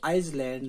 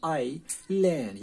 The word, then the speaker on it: island: यहाँ पे आप अच्छी तरह से देखें ISLAND, इसे आइसलैंड नहीं पढ़ा जाएगा, इसलैंड भी नहीं कहा जाएगा, इसे पढ़ा जाएगा आइलैंड, यानी ये S जो है ये साइलेंट रहेगा। तो आइलैंड हम जजीरे को कहते हैं।